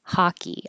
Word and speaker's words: hockey: sport of hockey ha it looks like an O it sounds like an a hockey I played hockey yesterday